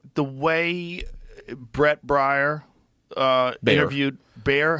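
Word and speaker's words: Baier: Well, there's also like the way Brett Breyer interviewed Bear.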